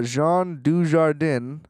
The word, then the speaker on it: Jean Dujardin: this happened and also Jean Dujardin I I kind of intentionally mispronounced that but I also was trying really hard to not say she warden because I always read it as DJ like I don't I